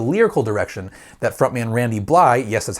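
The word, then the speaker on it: Randy Blythe: is actually the lyrical direction that front man randy bly yes that's how you pronounce his name took things in thurmondrom of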